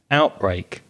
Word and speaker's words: outbreak: Yes, I noticed that the verbs stress the second syllable, outrun, outlive, whereas the nouns stress the the first syllable, outbreak, outburst.